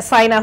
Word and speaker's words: SY: We also have Ken Saina, who is a travel consultant, SY Voyage Africa. Did I pronounce that right, the SY, or is it SI? It's Sai.